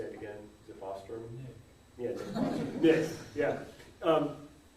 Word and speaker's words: Bostrom: Well, and that, and there's a lot of assumptions built into, I always mispronounce Bostrom's name, right? How do you say it again? Is it Bostrom?